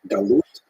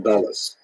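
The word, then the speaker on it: גלות: of the word Exile in Hebrew galute or in a ashkanazi pronunciation doas uh that Jews were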